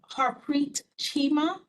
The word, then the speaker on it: Harpreet Chima: Next, we have Harpreet Chima. Hopefully I'm pronouncing that correctly. Hi, yes, you pronounced it perfectly.